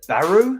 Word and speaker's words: Beru: farmers bounty hunters bartenders beru it might be pronounced beru but i'm sure it's b-u-r-u obviously check for me check after the quiz though in about 20 minutes or so baru is how you pronounce it baru junk collectors moisture